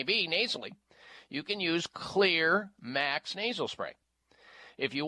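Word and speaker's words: Xlear: sprays, Clear Max, and Clear, by the way, is spelled X-L-E-A-R, X-L-E-A-R. The X is for xylitol.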